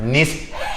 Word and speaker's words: niche: It's niche, but you know. It's actually pronounced niche.